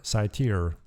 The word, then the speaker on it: satyr: I also heard satyr rhyming with my beer, satyr.